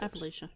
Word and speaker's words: Appalachia: In Appalachia. Mm-hmm. Or Appalachia, or however the hell you pronounce it. Appalachia. You got it.